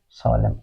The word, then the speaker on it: solemn: In these words, what we say, this word is pronounced as a solemn, or this word is pronounced as damn.